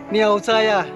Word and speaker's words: 尿磜仔: 以尿气窄客家话的发音应该是尿灾啊，尿灾啊，尿灾啊。